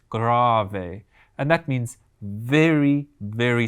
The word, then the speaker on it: grave: moment the first one it looks like the word grave but it doesn't mean digging a grave it's actually pronounced grave a and that means very